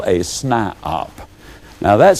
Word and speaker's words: SNIOP: toe, and they become what I call a SNIOP. Now that's spelled S-N-I-O-P.